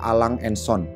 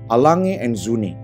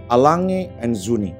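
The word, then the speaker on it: A. Lange & Söhne: Gua pernah dengar beberapa orang nyebutin merek ini adalah Lang & Son. Ada juga yang dibuat singkat dibaca Lange. Jadi kalau ada yang nanya, jam lu apa bro? Gua pakai jam tangan Lange. Ternyata cara baca yang bener adalah Lange & Söhne. Gua coba sekali lagi, Lange & Söhne.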